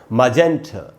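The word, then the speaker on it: magenta: का रूल है कि इंग्लिश में जितने भी वर्ड्स ए से ख़त्म होते हैं, अगर वो ओरिजिनल इंग्लिश लैंग्वेज के वर्ड्स हैं, तो जितने भी वर्ड्स ए से ख़त्म होते हैं उनमें ए का उच्चारण आ नहीं अ होता है।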